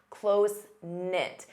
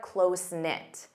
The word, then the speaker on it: close-knit: Notice the K is silent. Close-knit. And you need the verb to be. They're close-knit.